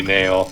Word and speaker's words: Neo: Avoiding true square tradition, you know, they take a Latin word and pronounce it wrongly because it should be Neo instead.